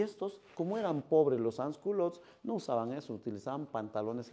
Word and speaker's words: sans-culottes: Se pronuncia los sans-culottes.